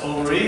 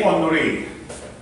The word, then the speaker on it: Henri: Yeah, it's actually French, so it's pronounced Henri. Henri.